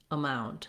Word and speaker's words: amount: So first of all, in the word amount, we have second syllable stress. So the mound syllable is long, mount syllable is long, and the syllable is short. So letter A says the sound sounds like a schwa in this word. So to practice getting the rhythm correct, I would focus on saying mount, amount. So say that second syllable first, then add your first syllable.